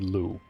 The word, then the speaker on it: Loux: so this is nepheli Lou the ex is silent Warrior come to think